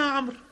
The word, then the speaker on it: عمرو: الذي يفتحها قال انا عمرد يتشاورون قال هل هو المقصود ما اسمك فارسل لهم اسمه عمرو وعمرو تكتب عين مم را واو اربعه حروف وتنطق عمر تكتب عمر وتنطق عمر فبدا